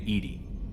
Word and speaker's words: EDI: Why are you named Edie? ED is the phonetic pronunciation of EDI.